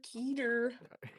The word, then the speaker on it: Keter: how I pronounced Keter like Peter? Keter.